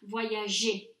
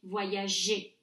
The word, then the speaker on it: voyager: a soft G, G, voyager. Je voyage, tu voyages, il voyage. All good. We keep that soft G sound because when a G is followed by an E in French, it's pronounced J.